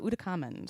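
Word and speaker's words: Ootacamund: How do you even pronounce it? Uh, Udakamand.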